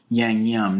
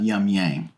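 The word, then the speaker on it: Yangnyeom: I pronounced it wrong it's Yang yum not yum Yang I think I did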